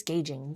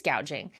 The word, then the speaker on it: gouging: It became very clear she's talking about price gouging. So she's reading off a teleprompter and misspoke and mispronounced price gouging and said, "Price gauging."